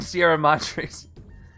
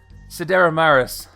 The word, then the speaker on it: Sidera Maris: Yeah, I keep saying it wrong because I'm used to saying Sierra Madres. Sidera Maris.